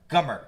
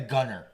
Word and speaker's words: Gummer: how do you say his last name? Gummer. Gummer. I always want to say Gunner.